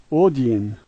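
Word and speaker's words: один: is a D sound, the backwards N is a double E sound, and the H is an N sound, and so this word is odin.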